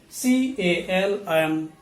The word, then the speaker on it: calm: second list please note the letter l is not pronounced in all these words so p a l m is pronounced as palm c a l m is pronounced as calm